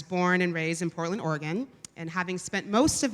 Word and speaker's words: Oregon: of Portland Oregon which by the way is pronounced Oregon not Oregon in Portland is in fact a city not